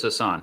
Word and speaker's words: Hassan: look at there maggie hassan oh it is hassan hassan all right senator hassan uh she is um she's been in the u.s senate since 2017.